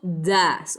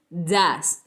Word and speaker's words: does: o una cosa, uso das, o sea, D-O-E-S. Se pronuncia das.